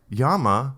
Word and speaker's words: llama: Okay, so I just looked up yama Spanish and there's nothing.